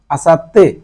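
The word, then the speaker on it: 明後日: মানে হচ্ছে আগামী পরশুদিন মানে আগামীকালের পরের দিন আসাত্তে এই আসাতে ছোট থাকার কারণে পরেরটার সাথে ডাবল উচ্চারণ আসাতে আসাতে মানে হচ্ছে আগামী পরশুদিন তারপরটা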